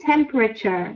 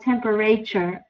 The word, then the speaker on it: temperature: remedy excellent perfect and remember we say temperature not temperature okay yes temperature temperature thank